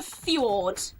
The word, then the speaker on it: fjord: Because it's like in some European countries and that, where the J is replaced, or J is pronounced as a Y.